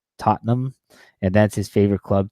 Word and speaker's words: Tottenham: He at least follows soccer, and he said it's pronounced Tottenham, and that's his favorite club team.